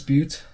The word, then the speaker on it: Butte: Big Butts right right is it pronounced but yeah I almost thought it was pronounced differently no disputes I was right oh it's beaut well in any case